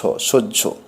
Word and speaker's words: সহ্য: হ কারের সঙ্গে যুক্ত হলে জ ফলা ঝ এর মতো উচ্চারণ হয়। যেমন দন্তস্ব হয় জ ফলা, কিন্তু পড়া হবে দন্তস্ব জ ঝ সহ্য বাহ্য বাহ্য।